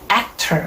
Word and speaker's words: actor: 액 액은 굉장히 강하고 길게 발음되고 턴은 굉장히 짧게 점처럼 발음돼요. actor 이게 바로 영어 강세의 스텝이 됩니다.